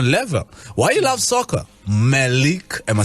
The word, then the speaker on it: Mahleek: Mahleek, am I saying it right now?